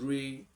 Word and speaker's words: re: So, and this is pronounced as do, this is re, this is mi, this is fa, so, then you have your la, ti, and then you can repeat the first one, which is do.